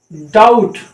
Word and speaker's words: doubt: क्या है ये, डेट, DOUBT। ये क्या है, डाउट। अब डाउट नहीं पढ़ना है, बी नहीं, बी की प्रोनाउंसिएशन, अब यहाँ पे बी की प्रोनाउंसिएशन कट गई, बी हट गया, डेट, डाउट।